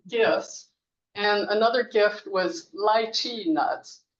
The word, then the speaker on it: lychee: And another gift was lychee nuts. When I learned Mandarin, which is li zhi, I thought that's a mispronunciation. It's lychee, right? Which you can also pronounce lychee.